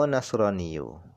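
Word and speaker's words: نصراني: A Nasraniyu atau wahai Nasrani. Nah, cara bacanya di sini adalah fiathin nun dengan dibaca fathah nunnya.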